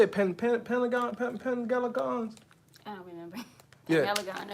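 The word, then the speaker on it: Penhaligon's: how you say it, Pengalagons? I don't remember. Yeah. Galagon or something like that. Yeah, right there. I would say Penheligon. That's how it's spelled in English.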